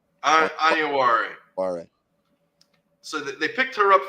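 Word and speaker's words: Onyenwere: Iyenware.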